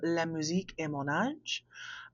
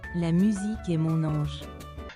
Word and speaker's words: La musique est mon ange: that time period, called La Musique est mon âge. I probably butchered the shit out of that. Here's the actual pronunciation of it. La musique est mon ange.